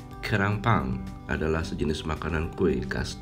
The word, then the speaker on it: gyeran bbang: Pernah sih tulisannya dalam versi Indonesia G-Y-E-R-A-N, Gieran. Tapi dibacanya Kerangpang.